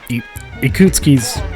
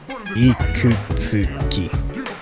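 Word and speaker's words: Ikutsuki: i get tongue-tied sometimes ikootski's not that hard a name to say ikutsky it's like it's like four syllables my duke it's not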